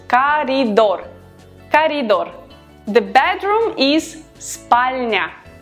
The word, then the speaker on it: коридор: We write коридор, but we pronounce коридор.